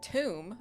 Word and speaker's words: Thum: Thum. Pronounced tomb.